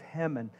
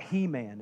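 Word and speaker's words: Heman: Old Testament by the name of hemon not He-Man It's spelled like He-Man right uh and not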